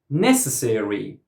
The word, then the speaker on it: necessary: Necessary. Necessary. First syllable.